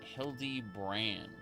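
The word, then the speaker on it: Hildibrand: It's pronounced Hildy Brand.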